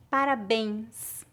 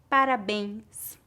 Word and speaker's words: parabéns: médico médico América América se a vogal e tiver acento gráfico circunflexo ou Agudo mas for seguida pelas letras n ou m a pronúncia geralmente é nasal há variações de acordo